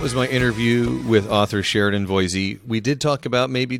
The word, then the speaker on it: Sheridan Voysey: Now I'm going to pronounce it right. Sheridan Voysey.